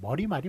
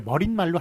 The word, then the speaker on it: 머리말: 예, 왜냐하면 그 발음을 머릿말로 하지 않습니다. 머리말이 맞아요. 마찬가지로 그 결론을 얘기하는 꼬리말, 예, 그것도 꼬린말이 아니라 꼬리말로 발음을 해요. 그렇기 때문에 머리말, 꼬리말은 발음 자체가 꼬린말, 머릿말이 아니라 머리말, 꼬리말이기 때문에 사이시오 붙이지 않는다라는 것 기억해 주시기 바랍니다.